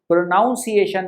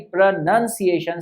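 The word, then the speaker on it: pronunciation: देखिए प्रोनाउंसिएशन और प्रोनाउंसिएशन, एक और बात मैं बताना चाहूंगा कि प्रोनाउंसिएशन नहीं, प्रोनंसिएशन सही इसका उच्चारण है इस शब्द का। PRONOUNCIATION की जगह पे PRONOUNCIATION प्रोनंसिएशन है, ठीक है, नाउन नहीं है, नन है।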